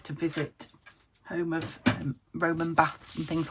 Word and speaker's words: Bath: We've decided we are going to Bath or Bath, depending on where in the country you are as to how you say it. But yeah, Yorkshire girl with flat vowels here, so we call it Bath.